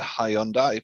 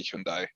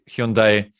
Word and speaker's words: Hyundai: with hyundai hyundai hyundai i have always said hi on dai but i think it's properly pronounced hyundai in croatia we pronounce it hyundai